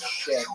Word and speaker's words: shin: For example, The letter, which in Hebrew is shin and is pronounced in English with the sound sh, pronounced together, sh.